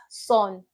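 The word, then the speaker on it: 손: Now, in English, we would pronounce this as son, as in this is my son. Come and meet my son. But in Korean, that son would be the o vowel.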